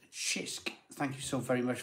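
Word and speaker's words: Cisk: you one for review it's pronounced shisk thank you so very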